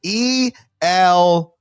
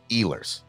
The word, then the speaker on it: Ehlers: Eillier. Ehlers. Oh, you're close, actually, but it's Really? E-H. Oh my! I see. I knew L. there. The H You're- is silent.